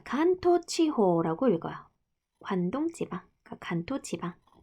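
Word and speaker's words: 関東地方: 자, 간토치호라고 읽어요.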